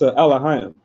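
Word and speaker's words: אלוהים: It's Elohim. Means Elohim? Elohim. That's how you say it in the Hebrew.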